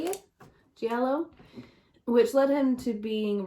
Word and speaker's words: giallo: giallo i think that's how you say it giallo which led him to being referred as the